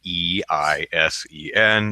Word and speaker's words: Eisen: Yes, I know it doesn't make any phonetic sense in American English. What you gonna do? Easy to pronounce if you live in Germany, though. It'd be like, I go to Germany and Eisen! I know exactly how that's pronounced. But so type my name